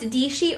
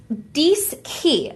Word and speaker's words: Dischi: know how it's pronounced, it looks like it's pronounced Dishi or Dichi, but it's actually pronounced Dischi.